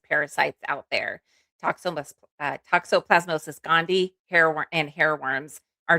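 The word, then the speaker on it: toxoplasmosis: I think the toxopplas plemosis. Is that how you say it? Toxopplasmosis.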